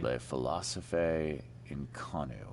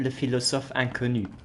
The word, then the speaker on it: Le Philosophe Inconnu: That's not how you pronounce it, but I'll give that to you. Le Philosophae in Konu. Selection of maxims and aphorisms. For proper pronunciation, you would say Le Philosophe Inconnu.